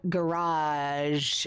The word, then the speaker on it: garage: Kit Sander thinks they have a more drawn out garage sound like I do. Either that or it rhymes with carriage. Garage. No. No. And does not have a hard G at the end of garage.